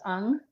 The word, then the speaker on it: Ng: do absolutely I am at my name is pronounced un my last name is hyen NG and it's because my Asian husband has an unusual name but it's pronounced un and so you can find me on Instagram at.